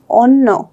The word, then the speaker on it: অন্য: তাহলে এটার উচ্চারণ হচ্ছে কি? অন্য।